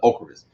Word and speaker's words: Ocrevus: I know a lot of people pronounce it different. I've heard a lot of people different, but my neurologist called it Ocrevus.